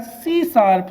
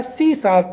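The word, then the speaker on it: C#: oriented programming discipline right it is pronounced as सी शप तो इसको क्या कहा जाता है इसको प्रोनाउंस किया जाता है सी शार्प तो सी प्लस या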